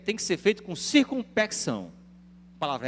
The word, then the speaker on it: circunspecção: que ser feito com circunspecção. Que palavra é essa? Circunspecto, né? Você pode fazer a pronúncia sem o C, antes do cedilha.